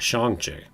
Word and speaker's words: Shang-Chi: Oh, is that how you pronounce that? Shang-Chi.